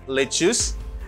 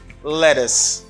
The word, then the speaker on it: lettuce: eat lychees i need lichus and my salad you don't say that you say i need lettuce do you have lettuce this is the way you should pronounce this word you say lettuce very